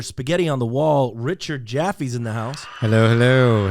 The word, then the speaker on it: Jaffe: So, Richard Jaffe, personal injury attorney, also a medic, also a motorcycle rider, right here in Long Island.